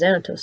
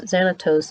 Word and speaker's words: Xanatos: farce because Xanatos insisted, and I need to keep him as an ally."